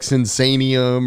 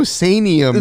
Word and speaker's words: Sinsaenum: There's no sanium. There's no N-I-U-M, and it's like and num.